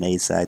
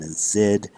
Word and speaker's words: azide: And wow, this is a rare functional group known as an azide, sometimes pronounced an azide, which is considered by chemists to be an extremely reactive species.